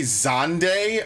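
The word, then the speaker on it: Zande: of a villain but they say zonday oh off i've been saying it wrong for years i'm not gonna unlearn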